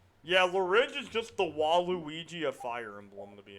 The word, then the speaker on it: Waluigi: Oh well, I like the subtitles mispronouncing Waluigi, Wall of Luigi. The Wall of Luigi. The Wall of Luigi. Even Sakurai doesn't know who the fuck Waluigi is.